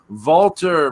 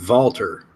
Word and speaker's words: Walter: Look up how the W is pronounced in German. You will see I'm pronouncing it correctly.